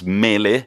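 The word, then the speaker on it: Mæhle: His name is Mele, I think it's pronounced Maehle, which makes it very funny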